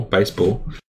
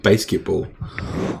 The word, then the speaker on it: Baseball: Well, because I was looking at the title and I pronounced it wrong. There's no K. I know. I was just thinking of the fantastic Trey Parker and Matt Stone film Basketball. And there's no T either, but I also agree Basketball is a good film.